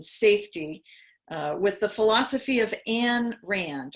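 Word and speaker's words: Ayn Rand: with the philosophy of anne rand or ein rand i think is how you pronounce her name so for those of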